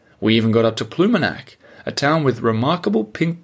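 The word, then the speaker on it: Ploumanac'h: to caucus on we even got up to pumac a town with remarkable pink Granite beaches not to mention the remarkable apostrophe in its name and for you guys listening pumac this is how it's spelled p l o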